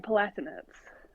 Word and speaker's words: Palatinates: I say Durham Palatinates.